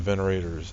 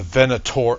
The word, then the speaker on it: Venator: High voltage energy conduits once powered the Venerators. The Venator. I keep saying Venerator. That's an extra syllable.